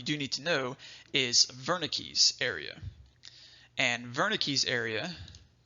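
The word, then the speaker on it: Wernicke: this whole area is Verna Keyes area and it's pronounced with a V a lot of times it's a German word so they say there's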